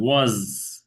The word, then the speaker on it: was: এই ওয়াজ না, কিন্তু এটা কিন্তু জেড সাউন্ড, সাউন্ড ওয়াজ।